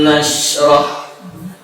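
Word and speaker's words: نشرح: Alam nashrah. Ya, jangan terlalu lama. Alam nashrah. Dan huruf sya ini juga huruf yang mengalir, jadi jangan berhenti, jangan putus. Alam kalau nashrah salah.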